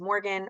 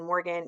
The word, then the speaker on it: Morgan: say my name is Morgan rhymes with organ organ Morgan you can't forget my